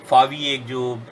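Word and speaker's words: Huawei: फावी जिसका प्रोनाउंसिएशन है, जिसका स्पेलिंग HUAWEY होता है, उसके भी जो ऑपरेशंस हैं उस पर भी अमेरिका ने रोक लगाने का प्रयास किया है।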